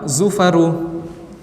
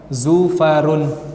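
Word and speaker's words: زفر: Begitu juga ketika ada nama orang Zufaru. Zufaru tidak boleh bertanwin, tidak boleh kita katakan Zufarun, tapi harus apa? Zufaru. Kemudian juga apabila kita temukan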